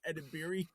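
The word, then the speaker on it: Edebiri: Gosh, I forget how to pronounce her last name. Ed edibiri.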